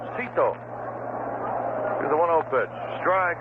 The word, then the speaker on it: Sixto: on Cameron night and asked six Lano how he pronounced his first name and he said Sito here's the one pitch